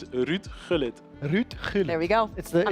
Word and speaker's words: Gullit: Last thing, can you pronounce Hullit's name perfectly just one more time for the broadcast so I can learn as well, because I do say Hullit, please? It's Ruud Gullit.